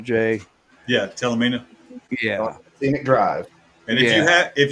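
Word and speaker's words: Talimena: We rode that Talanina highway. I don't know if that's how you pronounce it or not, Jay. Yeah, Talamina.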